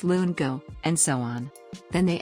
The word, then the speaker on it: lungo: say espresso it's espresso they call the long espresso drink longo it's lungo and so on then